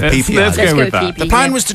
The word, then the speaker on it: Phi Phi: Phi I think that's it's not feif no no let's go with PP go the plan was